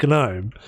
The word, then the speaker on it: gnome: it it's pronounced no the g is silent no it's not gloam that wasn't saying gnome genome that's what they